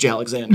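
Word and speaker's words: J. Alexander's: where the Savages time first of all it's pronounced J Alexander it's Alex in and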